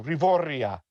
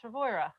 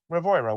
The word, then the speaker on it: Rivoira: No, Rivoria. No, it's Rivoira. Rivoira.